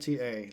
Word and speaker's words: Laputa: It's literally spelled like that. Laputa.